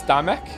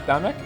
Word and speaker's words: Damek: Is the L silent? It's Damek. Damek. Like we're Scottish. Damek.